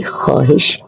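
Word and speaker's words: ख़्वाहिश: इसमें जो वाव है वो साइलेंट वर्ड है, बोलने में नहीं आता, लिखने में आता है। तो हम इसको अगर बोलेंगे तो ये बोलेंगे कि ये मेरी ख्वाहिश है।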